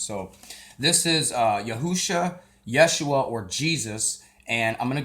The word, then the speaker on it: Yeshua: are those times so this is uh yahusha Yeshua or Jesus and I'm gonna go also into